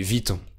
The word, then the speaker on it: Vuitton: Chanel, Dior ou Louis Vuitton. Oui, on prononce Vuitton, c'est un peu trop compliqué de prononcer Louis Vuitton, donc on prononce Vuitton.